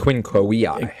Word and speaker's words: Quinque Viae: The Quinque Viae. There it is, the Quinque Viae. Even though it's spelled with a V, in Latin, V is W, like the German.